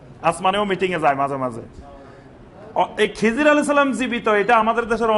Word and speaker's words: খাজির: কিন্তু সহীহ হাদিসে তার নামটা আসছে খাজির। খাজির নামে যেটা আমাদের পরবর্তীতে রূপান্তর খিজির হইছে। কিন্তু এটার সঠিক উচ্চারণ খাজির।